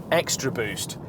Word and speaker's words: xTraboost: But the weird thing is that this BMW also gets a thing called xTraboost, and yes, I'm pronouncing that with a capital X.